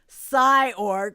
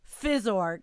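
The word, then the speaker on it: phys.org: okay fizz org and i have pronounced it psyorg forever i have the new york city pronunciation but guys out there it is fizz org isn't it physics yes i think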